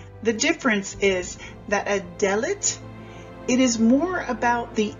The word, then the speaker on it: Dalet: The last pronunciation that we want to show you for this 3-letter combination is Dalet.